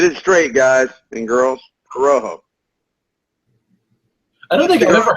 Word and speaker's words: Corojo: Pronounced Corojo, not Carajo. If you say Carajo in Spanish, it means hell.